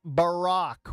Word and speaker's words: Barack: It's, with all due respect, doggy, it's Barack.